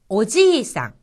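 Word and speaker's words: おじいさん: 오지상, 오지상. 여기서 지 다음에 이가 와서 이 부분이 장음이 된 겁니다.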